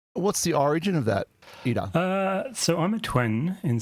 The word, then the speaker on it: Ira: Yeah, the way you pronounce my name is Ida. Bit of a rolled it's a Maori Ida. name. Yes. As in IDA, just IDA. But spelled phonetically, IRA, but Ida. You can hear it Ida, slightly. and- There's a little mini rolled R in there. Sounds like to me.